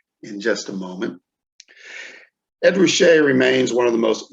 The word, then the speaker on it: Ruscha: His name is Ed Ruscha, and we'll get to why it's pronounced that way in just a moment. Ed Ruscha remains one of the most influential Los Angeles